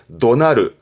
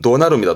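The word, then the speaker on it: 怒鳴る: 지르는 화내면서 호통치고 고함지르는 걸 말할 때쓰는 하는데 발음은 도나르 발음은 은 도나르 도나르 그래서 호통치다 고함을 지르는 잊지 마세요 호통 치 고함지를 땐 분노의 노자의 울명 붙어서 바람이 도나르 도나르 챙겨 주시고요 동사로는 오고르 흔히 화낸다 그러잖아요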